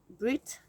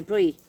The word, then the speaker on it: bruit: Brit is noise. Brit. I don't know if I've pronounced. No, brie. I haven't pronounced it right. It's spelt Brit, but brie is noise.